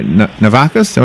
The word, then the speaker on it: Navakas: Michele Currie, Navakas, did they say it right that time? Yes, you got it. Navakas.